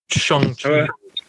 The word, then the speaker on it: Shang-Chi: He says it in one of the trailers, so it's Shang-Chi.